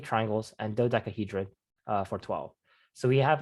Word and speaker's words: dodecahedron: tetrahedron, so 4 triangles, octahedron, 8 triangles, and dodecahedron for 12. So we have our same prefixes. And this is Excuse me? More, yeah. How do you say the last one? This one? Yes. Dodecahedron.